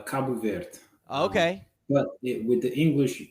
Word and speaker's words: Cabo Verde: it I know people so in Portuguese you said kab ver okay but with the